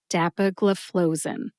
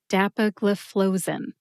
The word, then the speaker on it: dapagliflozin: Put all 5 syllables together and you get dapagliflozin. Emphasize DAP and FLOE. FLOE gets the most emphasis. See if you can hear DAP and FLOE emphasized when I say it again. Dapagliflozin. Dapagliflozin.